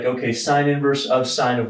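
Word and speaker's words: sin⁻¹: it sine inverse so we're going to apply sine inverse to the left-hand side of both sides of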